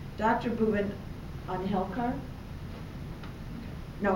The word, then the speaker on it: Unhelkar: Bhuvan Unhelkar. No, how do you say it? Unhelkar.